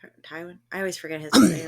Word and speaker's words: Tywin: ] character's name is um tarwi is it tarwin Tywin I always forget his I always say his name wrong yeah one of them but father Lannister